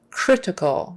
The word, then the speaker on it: critical: coroner coroner critical condition critical make sure you get an R not an L critical tongue goes back not CL I don't